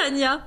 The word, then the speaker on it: Tanja: C'est Tania. Tout le monde m'appelle Tanja, mais ça s'écrit comme J, mais ça c'est Tania. Ah ok, d'accord, ça se voit comme ça.